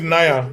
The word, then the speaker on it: Niya: His name is Nia.